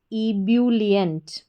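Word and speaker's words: ebullient: तो ई को ई पढ़ा बी यू इसको ब्यू ई ब्यू डबल एल आई ली और इ एन टी एंट इबुलियंट।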